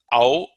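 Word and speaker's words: औ: Au, also a diphthong combination of A and U.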